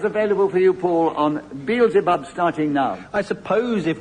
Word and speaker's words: Beelzebub: I would pronounce it Beelzebub.